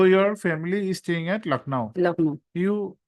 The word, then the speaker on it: Lucknow: Yes, Though your family is staying at Lucknow, Lucknow. then you should not emphasis on the first part. You can say that your family is staying at Lucknow.